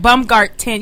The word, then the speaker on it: Baumgarten: You gotta, Kim, you gotta say it right. Baumgarten. You know you pronounce those T's.